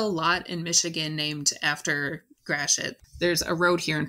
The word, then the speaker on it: Gratiot: did the interview today to make sure i'm pronouncing it right when i say fort gratiot am i saying it more or less correctly